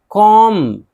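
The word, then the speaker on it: comb: जैसे मिसाल देखिए, कॉम। अब ये कॉम्ब बा नहीं है, बा यहाँ साइलेंट है, कॉम कॉम।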